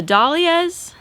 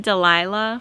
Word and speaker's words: dahlias: I might have changed my mind on this whole bed situation because the dahlias, I was pronouncing it Delilah for a really long time, and like people just really had a field day with that in the comments.